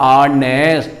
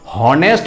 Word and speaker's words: honest: ठीक उसी तरह से HONEST यहाँ पे H साइलेंट है, H साइलेंट होने के कारण इसको पढ़ते हैं हम लोग ऑनेस्ट। हॉनेस्ट नहीं पढ़ते हैं, ऑनेस्ट।